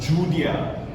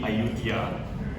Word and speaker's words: Ayutthaya: This is a depiction of Judea, or rather Yudhya, or if you want to pronounce it in the correct way, it's actually Ayutthaya, right?